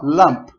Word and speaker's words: lump: A gente tem que parar na última letrinha aqui, ó. Então, ó, lump. Não pode colocar um sonzinho a mais.